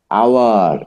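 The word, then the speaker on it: hour: আওয়ার, এখন আবার ওই এইচেরই উচ্চারণ আ হয়েছে, খেয়াল করেছেন?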